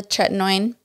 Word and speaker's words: tretinoin: And then tretinoin. Is that how you say it? Yeah, the tretinoin.